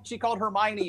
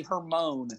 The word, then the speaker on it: Hermione: She called Hermione Hermone when she read it. She goes, Hermone.